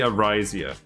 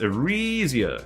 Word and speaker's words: Arisia: He calls me Arisia. So we need to teach him. It's Arisia, as in re.